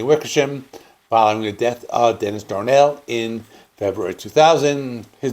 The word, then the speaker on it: Dennis Danell: This is Social Distortion's first album to feature guitarist Jonny Wickersham following the death of Dennis Danell in February 2000. His name is pronounced actually Dennis Danell.